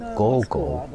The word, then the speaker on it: Gogo: His name is Gogo, which the pronunciation is the same as the 55 in Japanese.